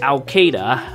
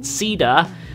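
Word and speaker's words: Caeda: And then we have Al-Qaeda. I guess I should properly pronounce it. Sida with winged sword.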